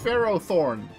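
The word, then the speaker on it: Ferrothorn: eternities Buton guard lookus pharoh Thorn which is the pronunciation of that Pokemon unlike what somebody else says I refuse it's not that one I am looking forward to using Ferro Thorn and Ferro seed in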